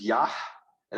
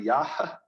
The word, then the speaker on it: Yah: his name which is yah and actually the h at the end of that is not silent as it is at the end of yehovah is probably yaha say yaha okay you